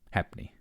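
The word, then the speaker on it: halfpenny: foot only caused each traveler a half penny pronounced happy the bridge of course took its name from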